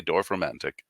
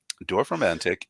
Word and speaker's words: Dorfromantik: ahead and take a look at how that's written because it is a complicated looking pronunciation, but I've heard most people say Dorfromantik.